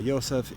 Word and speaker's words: Yosef: is or Joseph uh the Hebrew articulation and pronunciation of his name uh Yosef is the eleventh son